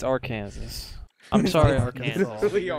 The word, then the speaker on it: Arkansas: many people make fun of it because it's actually Arkansas. It's Arkansas. I'm sorry, Arkansas. Literally Your, Arkansas. your state's called fucking Arkansas. It's not your Kansas, Sorry. it's Arkansas. Arkansas.